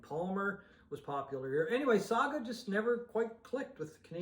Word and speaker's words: Saga: from Oakville Ontario uh Saga for Sega depending on how you say it I say Saga anyway this is called